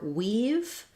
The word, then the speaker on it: we've: For weave, it's the same as the word to weave cloth.